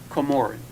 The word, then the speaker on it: Comoran: it the same, but But it's actually pronounced Comoran. Oh, really? That's the correct pronunciation of the last name.